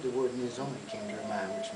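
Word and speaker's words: Nizhoni: The name of the CD is called Nizoni. It's a Navajo term, and it's spelled Nhizoni, and translated into this English language.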